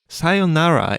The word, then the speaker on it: sayonara: known but I think getting the pronunciation right can be tricky you have to make sure to hold the yo sound and the whole tone of the word stays flat right listeners try it out